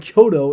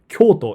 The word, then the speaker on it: Kyoto: And Kyoto is one of the ways to pronounce it. It's not incorrect. It's just a new way to pronounce it. Kyoto and Kyoto are both correct.